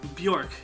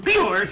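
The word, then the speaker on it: Björk: Bjork. You didn't say it right. Bjork!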